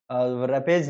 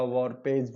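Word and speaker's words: warpage: रैपेज नहीं, सॉरी, इस स्पेलिंग को थोड़ा सा करेक्ट कर देते हैं, ये आप लोगों का वॉरपेज बोला जाता है।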